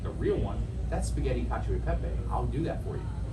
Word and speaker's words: cacio e pepe: How do you pronounce it? Cacio e pepe. Cacio e pepe.